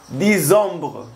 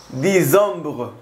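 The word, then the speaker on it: décembre: octubre noviembre es nov nov y diciembre es disom disom así que amigos Espero que les haya gustado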